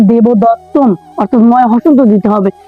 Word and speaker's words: দেবদত্তম: দ তৈয় ত এবার শব্দের শেষে যেহেতু অনুস্বর তাহলে অবশ্যই উচ্চারণ হবে দেবদত্তম অর্থাৎ ময় হসন্ত দিতে